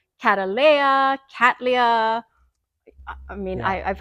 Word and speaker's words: cattleya: Lea is the yeah the way I've I've been saying cat Lea but it sounds better when you say catala yeah it rolls it